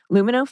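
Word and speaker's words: Lumineux: dentist for those treatments but you know what luminous feels gentle refreshing and i actually get results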